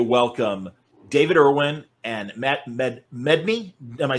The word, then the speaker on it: Medney: Very happy to welcome David Ervin and Matt Medney.